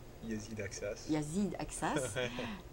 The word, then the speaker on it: Aksas: Donc, nous avons aujourd'hui avec nous Yazid Aksa. Yazid Aksas. Yazid Aksas. Ah, tu prononces le S à la fin? Oui.